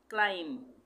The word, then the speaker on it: climb: CLIMB, क्लाइम, इस यहाँ पे भी बी का उच्चारण नहीं होगा, हम इसको क्या बोलेंगे? क्लाइम।